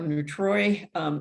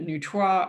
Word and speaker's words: neutrois: The difference between the two is that the neutrois or neutroi, it's pronounced both ways, folks experience some kind of dysphoria about the fact that they feel that they don't have a gender.